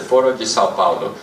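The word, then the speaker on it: Foro de São Paulo: It's the Foro de Sao Paulo, is how you say it in Portuguese.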